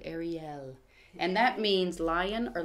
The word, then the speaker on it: Arieyl: Actually, it's supposed to be said Ariel.